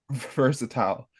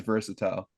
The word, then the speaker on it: versatile: I've been pronouncing it versatile this whole time. That's how they pronounce it in the UK. I don't know why. I've just been doing it as versatile, and I'm gonna keep You doing it.